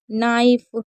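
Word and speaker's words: knife: जैसे के एन अगर कभी भी आपको साथ में दिखे शुरू में तो हमेशा के को साइलेंट रखना है, यानी कि के को आपको नहीं पढ़ना है। जैसे नीक, नी, नीड, नाइफ, निट, नॉक।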